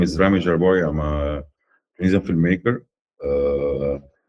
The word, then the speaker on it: Rami Jarboui: Please welcome Rami Jarboui, right? Is that how you Yeah, pronounce Rami it?